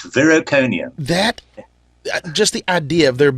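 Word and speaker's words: Viroconium: And I think that's probably where we should really get rolling with it is I believe, I hope I pronounce it right, Vericonium? That is correct, Vericonium.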